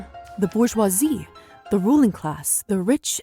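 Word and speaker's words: bourgeoisie: It's pronounced bouroisi. You The bourgeoisi.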